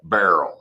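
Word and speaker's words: Beryl: what's the proper pronunciation it's not Burl right how how are they saying that that barl okay reminds me of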